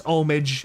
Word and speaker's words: homage: pronounce it that way I say homage I don't care I know we've been over this it's omage I don't care for omage omage sounds dumb I like homage imagine when the battle's